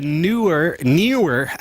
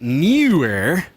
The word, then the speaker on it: NEEWER: The NEEWER, you got to say it right, NEEWER NW-882.